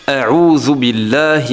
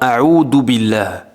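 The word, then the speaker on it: أعوذ بالله: Souvent on entend a'udhu billah, mais a'udhu billah, ça n'est pas correct. A'udhu billah, ça n'est pas correct. La bonne prononciation, a'udhu billahi. D'accord, donc ça c'est une erreur très très très fréquente.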